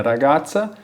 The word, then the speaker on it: ragazza: E atenção também, aproveitando a pronúncia do Z, o Z da palavra ragazza e ragazze, ele tem o som de TS, igual de pizza, né?